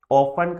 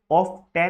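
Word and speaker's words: often: ऑफन का ना ये ऑफ 10 नहीं होता, इसका टी साइलेंट होता है, ऑफन बोलते हैं, तो OFN लिख दिया, ऑफन।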